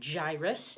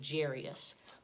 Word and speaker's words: Jairus: man in this story some people pronounce his name Jairus and some people I've heard save Jarius but I'm going to pronounce it gyrus okay alright so sit